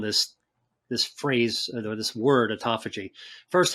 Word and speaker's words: autophagy: Before we go into the foods that increase the brown fat, what about autophagy?